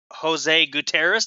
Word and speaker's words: Jose Gutierrez: Today I have Jose Gutierrez. Did I say it right? That's correct, Jose Okay.